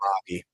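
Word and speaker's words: Laube: you say his name Jacob do you know lobby lobby okay Dylan Lobby out of New Hampshire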